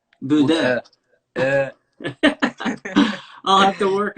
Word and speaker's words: Bodø: And do you pronounce it, because it's spelled Bodos, but is it Buda? The Buddha, Buda.